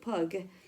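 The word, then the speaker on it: pygg: clay called Pig and that word was pronounced pug but in time as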